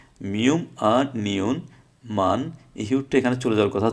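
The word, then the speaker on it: 많이: ছিল, তাহলে হিউত ইহি, মান হি হওয়ার কথা ছিল, কিন্তু মান হি না হয়ে হিউতের পর ইয়ং আসার কারণে হিউতের উচ্চারণটা হবে না। সুতরাং কী হবে, মানে, মানে অর্থ বেশি, মানে অর্থ বেশি।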